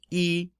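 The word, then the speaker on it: 一: our tones here so Yi is just pronounced e and first tone e r so remember fourth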